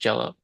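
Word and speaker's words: Jellÿ: umalots over the Y and they say it's pronounced jello.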